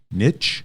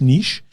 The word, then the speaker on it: niche: now that's my coaching niche or nietzsche nitch whatever people however want to pronounce it it is french so it is niche um but who knows maybe